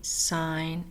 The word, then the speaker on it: sign: ballet buffet and listen silent G sign and align let's review what we